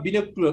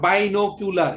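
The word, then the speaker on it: binocular: তারপর আরেকটা দেখালাম বিনোকুলার, বিনোকুলার, নট বাইনোকুলার, এরকম না, বিনোকুলার, হ্যাঁ।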